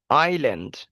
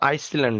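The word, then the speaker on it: island: উকুনের মত কিছু একটা দেওয়া আছে আই আই আইল্যান্ড এটা কিন্তু আইসল্যান্ড না আইল্যান্ড আই এস এল এই এন ডি এস এর উচ্চারণটা এখানে হবে না সাইলেন্ট হয়ে যাবে সাইলেন্ট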